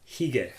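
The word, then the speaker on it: hygge: I have the pronunciation right here. It's hige. Because it's like I said, it's Danish.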